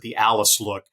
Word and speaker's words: Alice Look: credit that she deserves the alleys look or the Alice look uh Alice is actually the granddaughter of Ike thrash uh the owner uh that's how you pronounce it the Alice look she surprised Brad Cox when she beat chop